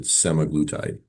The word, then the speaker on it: semaglutide: that semagleide thing but I do think most people do pronounce it semaglutide.